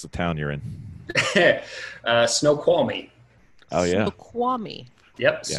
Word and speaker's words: Snoqualmie: So first question, how do we pronounce the town you're in? Snoqualmie.